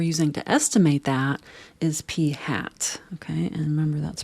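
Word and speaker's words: p̂: the statistic we're using to estimate that is p hat okay and remember that's pronounced P hat statisticians like to put accessories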